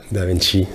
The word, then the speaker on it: Da Vinci: Da Vinci, si on va bien prononcer. D'accord. Da Vinci, c'est dans quelle langue là? En italien, ça vient de Léonard de Vinci.